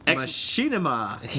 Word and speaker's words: machinima: out loud he says it is machinima not as in as in cinema not MAA like what we did you